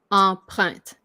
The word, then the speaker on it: empreinte: You just almost say it as 2 syllable, although it is 3 syllable. But this syllable becomes more like just a t.